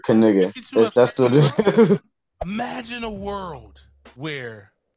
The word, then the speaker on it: Knigga: for kigga 416 yeah you got to say the whole word kigga that's imagine a world